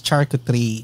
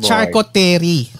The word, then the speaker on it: charcuterie: okay, guys, at saka ang tamang pronunciation yun is charcuterie. Charcuterie. Yeah, not charcuterie.